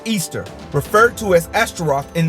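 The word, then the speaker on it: Ishtar: simaris became known as ishar pronounced Easter referred to as asteroth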